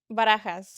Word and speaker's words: Barajas: Yes, Barajas.